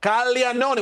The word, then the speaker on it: Caglianone: please universally agree upon the proper Italian pronunciation of Calon? Calon. When you see GLI, Calon is how you're supposed to say it.